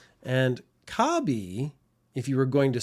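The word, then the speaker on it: カービィ: across the top except the Japanese pronunciation of Kirby is a lot more like kabi and kabi if you were going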